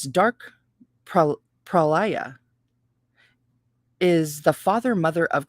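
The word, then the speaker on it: pralaya: and cosmic night night with its dark pro prolia is the father mother of creation black darkness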